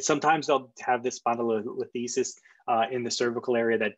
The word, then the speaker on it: spondylolisthesis: But because there's anterior dislocation, it's spondylolisthesis, I think is how you properly pronounce it, spondylolisthesis.